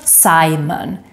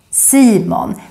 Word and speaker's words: Simon: sound is very important then we have demon yes not Simon silmon that's how we say the name in Swedish that annoying nasal Swedish e Simon played by Omar